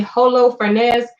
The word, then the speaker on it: Holofernes: it's spelled yeah h-o-l-o-f-e-r-n-e-s so i'm saying holo fernandez he ain't hispanic but you know went forth